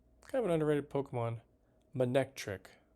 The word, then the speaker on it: Manectric: Manectric. That's how you say it. I don't know why I want to call it Magnetric.